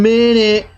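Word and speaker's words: Minit: and by the way it's spelled m-i-n-i-t so if you search for it's not spelled like actual minute but uh it's um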